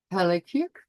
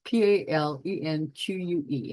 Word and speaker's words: Palenque: His tomb is currently situated at the Temple of Inscriptions in Palenque, Mexico. That's Palenque. I'm sorry, I didn't pronounce it correctly.